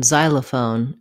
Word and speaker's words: xylophone: Letter X says z in xylophone and xenophobe.